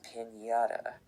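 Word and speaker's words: piñata: and na in the middle of the alphabet sounds something like the NY and can and other Spanish words that you might have heard before like jalapeno and pinata.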